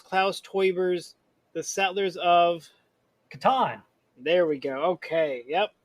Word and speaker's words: Catan: How do you pronounce Klaus Teuber's The Settlers of? Catan.